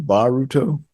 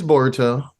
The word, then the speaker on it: Boruto: it right this board is it boruto baruto it's boruto boruto okay like burrito but the other way well it's recorded So